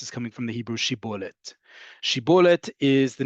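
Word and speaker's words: שיבולת: And they couldn't say Shin, they could only say Sin. So when they said Shibolet, they ended up saying Sibolet, and they were understood to be infiltrators and were dealt with accordingly.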